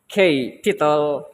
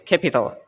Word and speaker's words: capital: And in capital, we have to include the stress between the first and third syllables. So the sounds of the word capital will be cap with stress, and pital. It's not, let's say, maybe capital or capital, but it's capital.